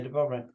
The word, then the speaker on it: Dubrovnik: Yeah, Dubrovnik.